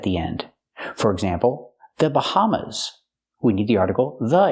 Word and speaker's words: Bahamas: Pronunciation, Bahamas. Use the sound like hello and house.